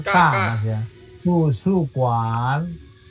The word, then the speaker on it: 图书馆: 馆bacanya ka mas ya tusu kuan tusu kuan tusu kuan oke sekarang Ira Xiaojie tusu kuan